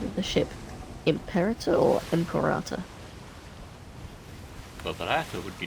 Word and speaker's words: imperator: was the impera well yes but we just pronounced it imperator m there is quite a few ships out